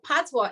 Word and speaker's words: patois: so first of all tatwa is spelled p-a-t-o-i-s okay so right away that's a french word so patwa is a mixture of